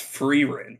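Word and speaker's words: Frieren: It's Freerin, which is stupid and not how it's spelled. Blame Germany.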